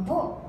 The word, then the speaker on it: 望: が、このボという言葉がですね、望むと書いてボなんですが、満月の